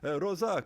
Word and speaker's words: Rosa: Rosa, it's not the A, it's the O. Or if somebody foreign saw your name, they may say, Rosa, please come over to my house, because they don't know.